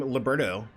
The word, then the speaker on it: Liberto: Originally was Liberto with an A at the end, but the pronunciation of the A and the O were very similar when my grandfather came over on Ellis Island, so they kind of just Anglicized it.